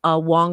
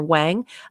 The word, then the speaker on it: Wang: love his friend uh noonan wong or wang uh different uh they